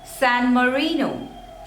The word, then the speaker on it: San Marino: Next is San Marino, San Marino. In Marino, there are 3 syllables. Marino. And the stress is on the second one.